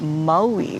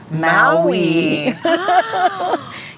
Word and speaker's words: Maui: And then pronouncing our islands, like Maui. right? Maui rather than Maui. Yeah, Maui. Maui. Right? Yes, that's the correct pronunciation.